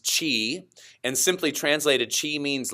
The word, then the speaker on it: Qi: do you say it it spelled Qi which means Chi and simply translated she